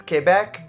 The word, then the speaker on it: Quebec: First things first, I said Quebec. Yes, I know that the proper French pronunciation of this word is Québec, but in my dialect of Canadian English, we just don't say it that way.